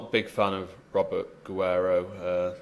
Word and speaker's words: Guerrero: big fan of Robert Guero uh not least because of his name really should be pronounced Guerero uh doesn't yeah but